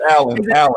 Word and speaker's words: Allyn: It's Alan. Is it Aileen? Alan. You know what? I was gonna say Alan, but I didn't. I was like, nah, I don't know. My middle name is Alan, so we tried to find a jazzy way to spell it. So we spelled it Allyn instead of Allen.